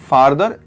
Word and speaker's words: farther: फिर number 7 फादर, FARTHER, और फर्दर, FURTHER। ध्यान दीजिएगा कि इन दोनों वर्ड्स का प्रोनाउंसिएशन डिफरेंट है। पहला है फादर, फा, आ यूज होता है, और उसके बाद फर्दर, FUR, फर्दर।